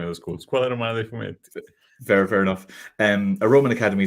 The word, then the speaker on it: Scuola Romana dei Fumetti: Scuola Romana dei Fumetti.